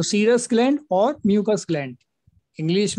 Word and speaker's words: serous: तो सर ये सीरस, सीरस बोला जाता है, SEROUS, सीरस बोला जाता है इसको, सीरस ग्लैंड।